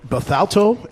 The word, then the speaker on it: Bethalto: about the about ACU that attracted you from Bethalto Illinois did I pronounce it right yeah okay what what what